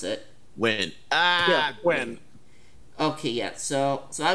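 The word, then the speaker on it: Nguyen: Not a bad guess, but they answer to Gwyn. I think that's how you pronounce it. Win. When? Okay, yeah, so I was close. At least I remembered that the first N was silent.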